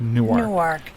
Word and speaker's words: Newark: up in newark and if you're from delaware newark delaware is pronounced newark if you're in new jersey going into newark it's newark newark newark anyway uh so i'm